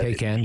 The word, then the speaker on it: Taycan: Porsche is lauding the fact that it's Taycan, and I may have mispronounced that. Taycan, yeah.